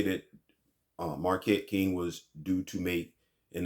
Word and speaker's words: Marquette King: John Gruden gets to the Raiders and he summarily dismisses DeMarcus King.